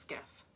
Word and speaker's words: SCIF: I just write skiff so I know how to pronounce it. Yeah, that's exactly. Because I sometimes write phonetically. A sensitive compartmented information facility, pronounced skiff.